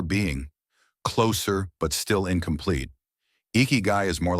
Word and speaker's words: ikigai: When we first encounter the word eeky guy, it feels delicate, almost like a secret. Four soft syllables.